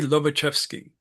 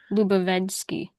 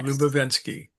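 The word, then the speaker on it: Ouspensky: Then we're gonna mention Prince Yuri Lovachvski played by Terrence Stamp in the movie. Did a great job of it. Lubenski. Yeah. Lubenski.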